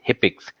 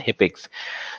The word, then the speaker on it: HCPCS: Second is CPT, that is Current Procedural Terminology, and third is HIPICS, that is HCPCS, we pronounce it as HIPICS.